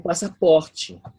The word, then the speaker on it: passaporte: O pasaporte. Ok. ¿Again? O pasaporte. Ok. Pasaporte. No, I can't. Ok. Pasa. Pasa. De dos S es como una S bien alargadita, ¿verdad?